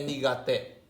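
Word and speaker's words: 苦手: Ini bacanya nigate, nigai tadi ya, i-nya dihapusin. Nigate artinya tidak pandai ataupun Ya tidak pandai, tidak ahli, nigate.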